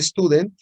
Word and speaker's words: Student: Y eso me da precisamente una T de student con nu grados de libertad. Student se escribe así. Y curiosamente se pronuncia student.